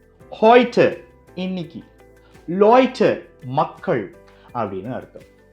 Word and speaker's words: heute: ஏவும் ஊவும் டாய்ச்ல ஒரு வார்த்தையில சேர்ந்து வந்தா அதை ஓய்னு சொல்றோம். எடுத்துக்காட்டுக்கு heute இன்னைக்கு, Leute மக்கள் அப்படின்னு அர்த்தம்.